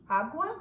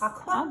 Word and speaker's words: agua: Agua? Yes. Aqua or agua? Agua. Agua.